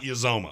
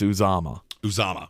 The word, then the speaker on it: Uzomah: Oh, it's hilarious because his name is CJ Uzomah. Uzomah. It's not Uzomah.